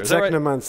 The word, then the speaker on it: Technomancer: The Technomancer, right? It rhymes with my favorite book, Necromancers, or Neuromancer, Technomancer.